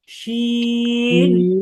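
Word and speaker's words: ش: উপরে উঠে যাবে তাহলে খেয়াল করেন আমরা বলব শিন বলেনশিন হ্যা এবং আপনাদের জন্য গুরুত্বপূর্ণ যে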